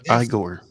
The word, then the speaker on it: Igor: Yes, back in the day when Igor Sikorsky first built the helicopter, it was very similar. You had to pedal them with your feet. It's pronounced Igor.